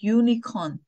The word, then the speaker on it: unicorn: unicorn if we pronounce unn so the correct pronunciation is unicorn unn unicorn so that's why we have to